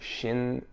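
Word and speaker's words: 森林浴: The Japanese pronounce it Shinrin-yoku.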